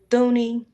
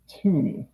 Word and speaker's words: Thuney: Joe Thuney, that's how you pronounce that? I think he pronounces it Tooney. I think the H is like silent.